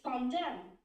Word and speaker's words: condemn: Condemn. Condemn. But pronunciation. It's condemn. Yeah, but you just sound so much O, but it's you remember it's not O.